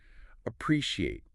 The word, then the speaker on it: appreciate: It looks long. Appreciate. Sounds like a pre-she, 4 syllables. Then pre, like P-R-E, then she, like S-H-E, then A-T, like the number 8. Pre-she, he. The stress is on the second syllable, pre.